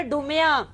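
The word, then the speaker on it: Dumas: है बहुत बड़ा राइटर ये डूमा वही है जो डुमास भी कहते हैं जिसको ये बेसिकली डूमा ही है लेकिन डुमास कहा जाता है दोनों दुरुस्त है और यह लिबान टेक्सस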